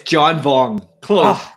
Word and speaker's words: John Vuong: pixel feet radio and i'm with my friend john wong here did i pronounce that right i think i did it's john vong close close enough um and john he uh